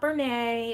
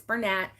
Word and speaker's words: Bernat: yarn he was like it's not Bernay it's not you know don't get fancy with it it's Bernat and then this one you